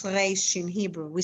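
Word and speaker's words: ריש: That's how I would pronounce reish in Hebrew. We say reish, r. It's glottal. It's all the way back there.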